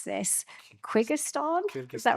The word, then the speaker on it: Kyrgyzstan: with Brazil, Belarus, I'm not sure how to pronounce this, Kyrgyzstan, is that right?